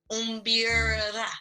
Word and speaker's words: mbira: We know what your primary hobby is, and Yes, primary hobby, of course, is my array, and it's pronounced umbira. If you umbira, can roll your tongue a little bit, I umbira.